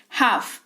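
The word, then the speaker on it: half: हाफ। एच ए एल एफ। अ यहां पर है इसकी स्पेलिंग। लेकिन एल जो है वो साइलेंट रहता है ड्यू टू साइलेंट लेटर्स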